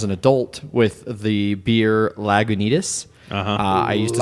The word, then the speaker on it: Lagunitas: who got really upset at me ordering a lag Unitas when it's pronounced Lagunitas it sounds like a really shady place that's open after 2:00 a.m.